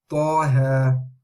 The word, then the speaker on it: Taha: Of course, the ta is heavy letter, ha is light, so make sure you say that as well. Taha, Taha, Taha.